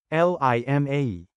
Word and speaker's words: lima: Second, pronounce the letter I, as you would the American letter, E. For example, in Bicol, 5 is spelled as Lima.